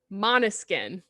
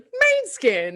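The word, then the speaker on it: Måneskin: week kat recommended beggin by monoskin that's how you pronounce their name so i knew that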